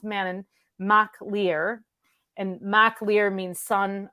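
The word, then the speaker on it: Manannán mac Lir: to I have to write it mananan it's Manon it's pronounced Manon ma leer and Ma leer means son of the of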